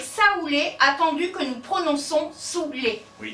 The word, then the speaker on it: saouler: En 1548, le dénommé Sébilé déclare, et je cite, « Cette curieuse superstition d'écrire Saoulé attendu que nous prononçons Soulé.